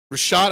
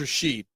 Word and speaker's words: Rashad: And Rashad, I thought it was Rashid.